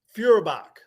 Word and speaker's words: Feuerbach: Is it Feuerbach Porsche? How do you Feur, pronounce it? Feur, Feuerbach.